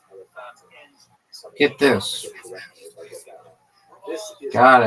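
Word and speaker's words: Elephantine: You know, It's supposed to be pronounced Elephantina.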